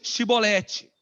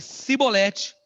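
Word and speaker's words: chibolete: Então lhe diziam, dize, pois, shibolete. Porém, ele dizia sibolete, porque eu não podia pronunciar assim bem.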